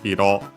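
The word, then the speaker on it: 色: Here on Bulbapedia Dimension adds the suffix Hiro. Hiro on its own, accented on the last syllable, means color.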